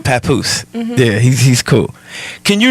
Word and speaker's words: Papoose: Papoose.